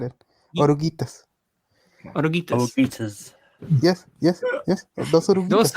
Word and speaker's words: oruguitas: Dos oruguitas. Agruitas? Oruguitas. Oruitas. Oh, the G's not even... Okay, oruitas. Gi.